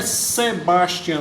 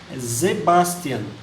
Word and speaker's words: Sebastian: Yohan a z Bastian professor não é Sebastian não zebaztian o alemão ele pronunciou essa como se fosse o z tá e o ramo